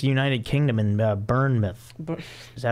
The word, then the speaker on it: Bournemouth: I mean, it's United Kingdom in Bournemouth.